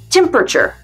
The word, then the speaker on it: temperature: Non, ça se prononce temperature.